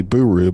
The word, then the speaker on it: buru: what you did there so this is spelled b-u-r-u so it could be buru but it's actually buru as as we were informed uh